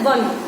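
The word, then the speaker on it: won: Fourth is children the team वन the match, वन मतलब जीतना, इसको हम बोन नहीं बोलते, we pronounce it एज वन।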